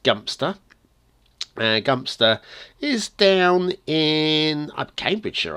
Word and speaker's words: Godmanchester: come over to a dunstable to pad hmm godmanchester now as promised in the last episode godmanchester is the feature of our factoids of the day and the course godmanchester just pronounced dumpster dumpster is down in Cambridgeshire I believe flat